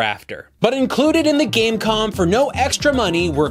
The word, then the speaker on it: Game.com: a slick high-tech marvel but the dot is silent it's called dan calm